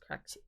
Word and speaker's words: Craxy: It's pronounced Craxy.